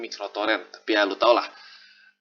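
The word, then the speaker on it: µTorrent: Walaupun sebenarnya bukan uTorrent sih, cara bacanya sebenarnya microtorrent, tapi ya lu tau lah.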